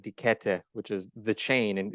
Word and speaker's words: Kette: Yeah, Kette, and it's spelled Kette.